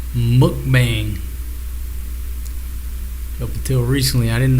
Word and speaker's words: mukbang: One of y'all said it's pronounced mukbang.